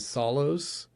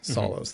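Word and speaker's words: Psallos: Hebrews by the band Solos. Um, it's spelled it's spelled out P S A L L O S. Solos. The P is silent.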